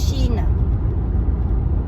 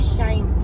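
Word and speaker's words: Shein: la concurrence avec shine ça dépend comment le prononce à l'anglaise ou à la française à la française Chine à l'anglais Shy'm Aliexpress et Amazon je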